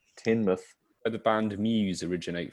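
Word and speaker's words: Teignmouth: the grass juicer henry says it's produced it's pronounced tinmuth where'd the band muse originate from there's an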